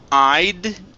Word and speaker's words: I'd: Next up is the word I'd. Make sure to pronounce that D.